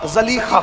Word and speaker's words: زلیخا: اپنا مذہب چھوڑا۔ عشق کا دستور ہے، جب زلیخا کو عشق ہوا، زلیخا کو، تلفظ میں نہیں الجھاتا، اصل تلفظ تو زلیخا ہی کہا جاتا ہے، زلیخا کو جب عشق